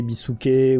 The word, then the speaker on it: Biscuit: voulez Toashi c'est euh que Biscuit soit soit prononcé à l'anglaise. Donc Biscuit euh c'est pour ça qu'on a Bisquet souvent euh même je